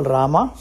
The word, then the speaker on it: Rama: In south, we call Rama. In north, it becomes Ram. In south, we say Shiva.